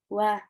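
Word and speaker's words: は: Pertama masuk ke partikel wa. Partikel wa sebenarnya. Partikel wa ini dituliskan dalam hiragana ha, tapi bacanya wa ya minasang.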